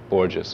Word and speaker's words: Borges: I guess you know that I did a book of interviews that was published years ago with Jorge Luis Borges, or Borges would be the American pronunciation of it.